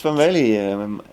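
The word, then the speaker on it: Van Wely: You pronounced Van Vele very well.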